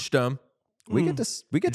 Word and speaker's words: Sturm: Uh, someone in the chat says it's Sturm, not Sturm. I was waiting for someone to say that. No, it's Sturm.